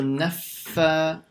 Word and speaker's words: النفاثات: And make sure you pronounce the shadda on the fa. And like we mentioned how to read the shadda, you stop on that letter for about half a second. So naffa.